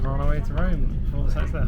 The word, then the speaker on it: Rome: actually called Rome. Rome. It rhymes with- Just like home.